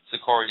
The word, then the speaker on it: Sicarii: Sakari is spelled Sicarii.